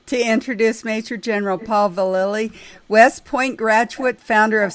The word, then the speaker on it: Vallely: It's Vallely. Vallely, okay. Vallely. Those L's in there get very confusing, Sharon, so I can understand.